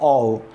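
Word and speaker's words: of: देखो कई लोग उसको ऑफ बोलते हैं, ऑफ नहीं, प्रोनाउंसिएशन हो ऑव।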